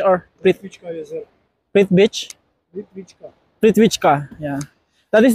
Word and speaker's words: Plitvice: it plit beach or beach sir prit beach prit wika prit wika Yeah that is the the correct pronunciation of this placeit beach ka maganda mag